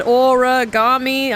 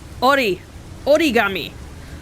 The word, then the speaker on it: origami: way when i said aura gami i mean that's the way americans pronounce it but it's not how you pronounce it in japan so all that talk